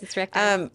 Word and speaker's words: recti: I don't know how you pronounce it, but recti.